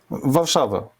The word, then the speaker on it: Warszawa: In English, it's Warsaw. Warsaw, Yeah. okay. No, I want the real name. Warszawa. Varsavia. Warszawa. Okay. More, Warszawa more close to Italian way that it's Varsavia.